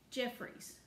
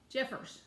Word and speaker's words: Jeffers: survival tips by um jeffries no jeffers that's how you say it jeffers well i may